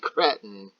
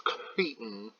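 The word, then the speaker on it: cretin: that kind of commentary you filthy threaten and yes I know it's Creighton but I'm new Miss pronouncing it would get some of you all Mike wazowskied up My Life As We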